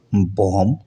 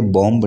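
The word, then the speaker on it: bomb: तो बी का जो साइलेंट है, जैसे कि आपने देखा होगा बॉम्ब, इसे बॉम्ब नहीं पढ़ा जाना चाहिए।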